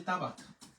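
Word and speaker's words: tabac: তামাক দ্রব্য ব্যবহৃত হয় আমরা অনেকে বলি তাবা না তাবাক না এটা কিন্তু হচ্ছে তাবা আমরা কিন্তু উচ্চারণ করি না তাবা তাবা আতা বেবা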